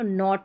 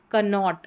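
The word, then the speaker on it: knot: और यहां पर के एन इसको भी न पढ़ेंगे क्योंकि के साइलेंट है तो नॉट पढ़ा जाएगा न की कनोट न तो के एन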